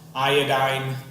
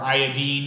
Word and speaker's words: iodine: Fluorine, chlorine, bromine, iodine or iodine, if you want to keep that "een" sound.